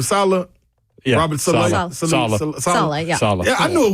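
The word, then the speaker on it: Saleh: wasn't solid that's how you say his name Salah Robert yeah I knew it wasn't his fault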